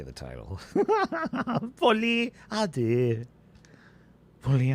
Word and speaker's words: Folie à deux: You have to say it like a very smug, self-righteous, but very peaceful Frenchman who is smarter than you are, right?